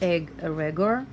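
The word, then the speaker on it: egregore: gregor theosophy uh and the gregor pronounced egg regard is a group uh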